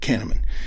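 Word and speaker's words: Kahneman: Canaman is spelled K A H N E M A N. Canaman uh Nobel Prizewinning psychologist explored how emotions influence decisionmaking.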